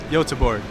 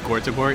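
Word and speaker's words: Göteborg: It's pronounced Yotaborg. So it wasn't like Gortaborg, it's a yo.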